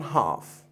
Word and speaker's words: half: 2 3 halves 1/2 H and L here is silent I'm going to have a separate video about silent letters and the F here is going to be a V now I'm gonna teach